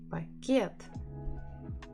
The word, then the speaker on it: Пакет: Should I stress па or should I stress кет? Пакет. Пакет. Пакет. Пакет.